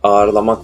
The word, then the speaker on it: ağırlamak: Yumuşak G burada düşer ve aslında okunması gereken şey ağırlamak olur. Ağırlamak değil, ağırlamak diye telaffuz edilir.